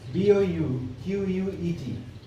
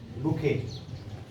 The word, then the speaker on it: bouquet: the first time and b-o-u q-u-e-t bouquet bouquet right then d-e-n-r-e that is